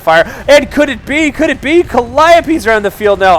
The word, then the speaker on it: Calliope: the status of his Calliopes. I like to mispronounce that word sometimes just because it's fun to say it that way. I know, it's Calliope.